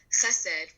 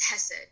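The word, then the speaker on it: חסד: Or, Chesed, which is a Hebrew term for charity work, will be pronounced as Hesed because it's a little harder to pronounce the ch in the native tongue.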